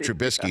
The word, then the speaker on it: Trubisky: I think it's pronounced Trubisky, not yeah, but, Nate.